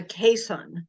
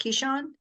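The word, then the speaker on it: Keeshond: like related to a Pomeranian he's actually a caisson it's spelled k-e-e-s-h-o-n-d Keyshawn the Dutch gotcha all right well it is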